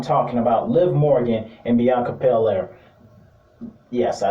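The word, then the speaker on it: Bianca Belair: shine and i'm talking about liv morgan and bianca paler yes i said it right i just want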